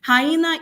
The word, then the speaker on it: hyena: Hyena is a 3-syllable word, as we can see, and the stress is on the long syllable.